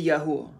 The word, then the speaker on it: Yahuwah: I will give thanks to Yahuwah, to the Lord, with all my heart. And if you don't know, when I say Yahuwah, that's my understanding of the pronunciation of the name of God.